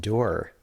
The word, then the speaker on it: dour: yeah and she's like no it's not pronounced dower it's pronounced door it's pronounced door and